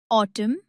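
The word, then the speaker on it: autumn: Section तीन letters N टू W letter N N silent होता है जब वो एम के बाद आता है। जैसे ऑटम कॉलम और हिम। यहां सिर्फ एम पर रुक जाना है।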